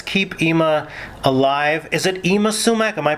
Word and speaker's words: Yma Sumac: Is it Yma Sumac? Am I pronouncing it properly? That's right, Yma Sumac, yeah.